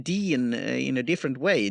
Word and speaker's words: Dene: spell it because it's Dean is using spell d e a n and like you say mine's d e n e but pronounced the same yeah but it's good